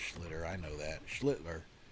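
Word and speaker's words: Schlittler: He's been battling against Cam Schter. I'm just kidding. It's pronounced Schlitter.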